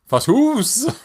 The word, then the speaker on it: Fatuus: There's Fatuus. 2 U's. Fatuus. Fatuus. You just have to drag it out.